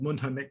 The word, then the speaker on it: Munhamek: this time around with Munhamek getting the win over Detonator Jack. Oh, you've got to do it again, buddy. You've got to say it right. Yes, Munhamek. Oh, perfect.